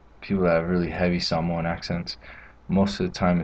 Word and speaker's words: Samoa: And that's the biggest difference with the A, is it's an ah sound, so Samoa instead of Samoa.